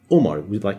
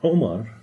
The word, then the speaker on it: Omar: Now, the name Omar, everybody says Omar, with an O in English. The actual way to pronounce it is Omar. Omar. It's coming out from here.